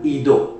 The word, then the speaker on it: eido: Kalau kita belajar dari bahasa aslinya, bahasa sononya adik-adik ya, kata tahu yang pertama dipakai kata eido ya, ido dibacanya.